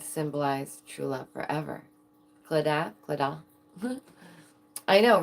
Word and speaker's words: Claddagh: The claddagh.